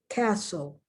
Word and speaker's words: castle: at the silent t castle there's a t there but you don't hear it whistle there's a t